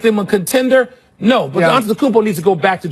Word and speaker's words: Antetokounmpo: They've got the player to build around in Antetokounmpo. I know you don't like to say his name. Isn't that cool to say it though? Fight with me. Antetokounmpo. Antetokounmpo.